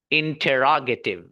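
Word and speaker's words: interrogative: The correct pronunciation of this word is इंटेरोगेटिव।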